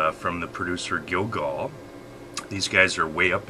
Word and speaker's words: Gilgal: There's more hints of oak and herb and G-I-L-G-A-L, spice than just over the top.